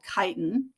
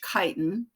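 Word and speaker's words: chitin: made of a carbohydrate called kiten and you do pronounce the CH as a hard ch kiten um and the the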